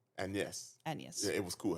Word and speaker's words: Agnes: Her name is Agnes, but it's Agnes where the G is silent. Agnes.